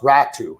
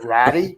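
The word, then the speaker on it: Räty: ad to rack i i believe it's pronounced rattu it's atu ratu but like i have a tough time ezra not saying ratty because it's just sitting there yeah anyway but but that you know that that's how it's pronounced but any the you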